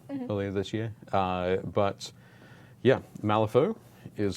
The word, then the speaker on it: Malifaux: But yeah, Malifaux is spelled just like there on the box.